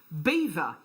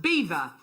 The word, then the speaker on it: Belvoir: messaging in saying that belvoir is actually pronounced beaver famous for its castle cafe hi carol belvoir is pronounced beaver and is famous for